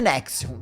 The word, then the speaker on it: NXIVM: Então, pronuncia-se Nexium, tá?